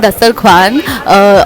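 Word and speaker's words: Dastarkhwan: So everyone, we are in Dastar Khan, or it's actually pronounced as Dastar Khan, but the spelling comes with a W.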